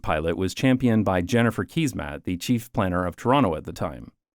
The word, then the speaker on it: Keesmaat: The King Street pilot was championed by Jennifer Keysmat, the chief planner of Toronto at the time. And to my Dutch audience, yes, Canadians pronounce this surname as Keysmat.